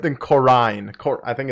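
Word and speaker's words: Corinne: corny right caroline coron skipping the eye in there like that's just you don't want to see the eye so you're just going to not pronounce it that's not how eyes work man all right then corrine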